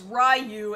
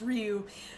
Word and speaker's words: Ryu: where uh you know tons of people in America think that Ryu from Street Fighter's name is rayu and it's not it's Ryu um so uh are